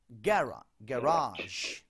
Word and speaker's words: garage: গ্যারাজ, গ্যারাজ। এবার দেখি ওরা কি বলে। Garage.